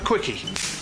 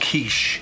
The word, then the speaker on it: quiche: Can I have a quickie? It's pronounced quiche.